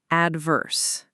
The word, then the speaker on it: adverse: And as we mentioned, the stress is on the first syllable, adverse.